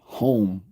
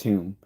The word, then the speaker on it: Hume: like Americans and others pronounces kept calling him home when it's pronounced him that he he you know changed the spelling of his family name to H so that people would pronounce it properly which is whom and like same thing with Barkley like this